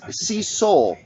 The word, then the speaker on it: Cecil: Just an FYI, it's pronounced Cecil. Love your show. I am the worst. Look, everybody knows I suck at pronunciation. I'm terrible at it. So let me do Cecil.